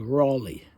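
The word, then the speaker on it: Raleigh: was spy and this was this fellow called Raley Dimitri spells it a r a l i phonetically but of course that was not the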